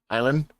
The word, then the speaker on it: island: it's awful uh uh Island why why don't you present the silent s yeah that's just oh